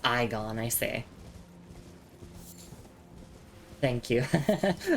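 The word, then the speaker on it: Igon: Oh, it's pronounced Iggon.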